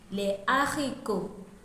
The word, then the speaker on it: haricots: H aspiré is also found in the word for beans in French, les haricots.